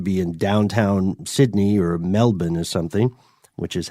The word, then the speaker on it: Melbourne: this thing to be in downtown Sydney or Melbourne or something which is how you pronounce it so uh but by 1970 over